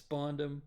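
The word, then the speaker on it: Spandam: His name is Spondum, and Robin snaps his neck. And it's awesome. That's funny. He deserves it, though. Yeah, because this dude's name literally rhymes with condom.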